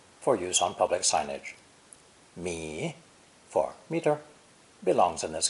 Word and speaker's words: 米: Pronounced 3rd tone, mi, mi.